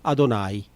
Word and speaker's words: Adonai: Ani Adonai. Creo yo que dice el texto hebreo, lo pronuncian así los rabinos, Ani y Yahvé, diría,